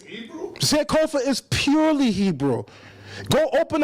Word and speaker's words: Sankofa: Notice it's not pronounced Sankofa. It is pronounced Sankofa.